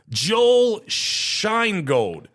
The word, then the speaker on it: Sheingold: His name, Joel Sheingold.